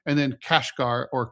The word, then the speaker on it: Kashgar: And then Kashgar or Kashgar, it's just how they pronounce it in parts of China.